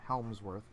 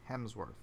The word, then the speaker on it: Hemsworth: Not Helmsworth, Hemsworth. Hemsworth, sorry, bro.